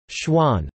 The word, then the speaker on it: Chuan: Chuan, pronounced Chuan, are small pieces of meat roasted on skewers over charcoal, or sometimes, electric heat.